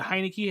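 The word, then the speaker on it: Heinicke: to them um but I like Hein is a Heineken is how you pronounce it I like their quarterback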